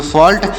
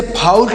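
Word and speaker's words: fault: ट तो इसे पढ़ेंगे फॉल्ट। इसे फाउल्ट नहीं फाल्ट पढ़ेंगे। यहाँ पर यू साइलेंट है, मतलब इस यू का प्रोनाउंसिएशन नहीं किया जाएगा, तो इसे हम फाल्ट पढ़ेंगे।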